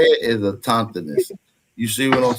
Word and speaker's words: autochthonous: I say a tauntiness. But so you can take whatever part of it out that you want to. A tauntiness. Because it's AUTOCHTHONOUS. So a tauntiness. Yeah, you can pronounce it like that, brother.